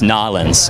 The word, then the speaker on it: New Orleans: It's actually pronounced Nolens.